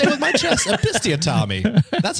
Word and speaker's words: episiotomy: I'll say it with my chest, episiotomy.